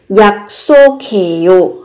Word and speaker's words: 약속해요: Các bạn cần chú ý về cách phát âm. Ở cái âm tiết thứ hai thì gấp đôi phụ âm sở, cái âm tiết thứ ba thì nối cờ hờ với nhau thành âm khờ.